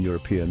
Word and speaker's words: European: Words like uniform and European might start with a vowel, but they sound like they begin with a consonant Y sound.